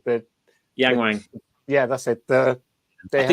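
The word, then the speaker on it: Yangwang: uh is it Yang I always get the name wrong the Yang Wang yeah that's it the they two cars there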